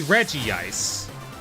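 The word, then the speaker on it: Regice: He's got to be Reggie Ice.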